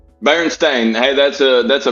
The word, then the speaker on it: Berenstain: missed out spell it there's Berenstein Bears no that says Berenstain bearing stain hey that's a that's